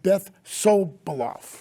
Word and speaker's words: Sobiloff: And we have Beth Sobiloff, right?